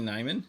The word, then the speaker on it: Nyman: Uh Yiani Nyman Neman I think is the correct pronunciation for the Kraken on the rookie.